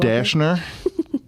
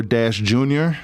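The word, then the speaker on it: Dashjr: Dashner or Dash Jr. Depends on who you're talking to.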